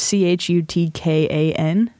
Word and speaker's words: Chutkan: Judge Chutkans? Is that how you say it? How do you spell it? It's C-H-U-T-K-A-N.